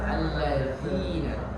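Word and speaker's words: الذين: Jadi harus keluar, membedakannya dengan cara mengeluarkan lidah, ujung lidahnya. Za, seperti itu. Baik. Jadi harus terbaca alladzina.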